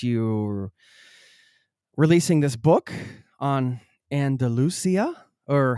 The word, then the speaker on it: Andalucía: releasing this book on Andalusia, or how do you say it in Spanish? Andalucía. Andalucía. Andalucía.